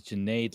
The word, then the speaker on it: Jade: well to start off my name is Jade like lemonade just so you don't have trouble pronouncing it um with AI what's